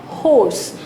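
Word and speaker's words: horse: दूसरा है यूनिवर्सिटी, तीसरा है होर्स। अब यहाँ पे हम एच को साइलेंट नहीं कर रहे हैं, हम यहाँ पर उसको पूरा प्रोनाउंस कर रहे हैं।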